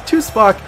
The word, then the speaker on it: Tuspok: I've been calling his name wrong the whole entire time. It's Tuspok.